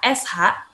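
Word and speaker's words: 是: Ketika kalian ketemu SHI, itu bacanya bukan shi ya, tapi dibacanya sh, gitu.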